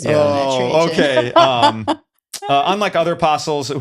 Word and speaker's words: Trajan: It's a Trajan. It might be Trajan. Trajan. Yeah. Sounds like the No silent J on that? Probably not a Trojan. silent J. Oh, man. Not like the Trojan horse.